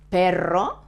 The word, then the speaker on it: perro: And notice that perro, dog, has a double R, but this word, pero, that means but, pero has a soft sound. It's the same, but with a soft sound, the same as perro.